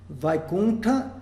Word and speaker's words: Vaikunta: Vaikunta é o céu espiritual, é o mundo espiritual. E aqui nós temos então a primeira sílaba vai, que é longa, depois cum, longa, e ta, que é curta.